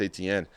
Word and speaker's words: Etienne: that running back, Travis Etienne. I might be saying it wrong. He says it's Achane now, but I'm not going to try to say it a certain way. I've always learned as Travis Etienne.